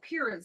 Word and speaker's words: purine: that have something called purines it's our science word for the day and I always tell my students purine rhymes with green so now you're never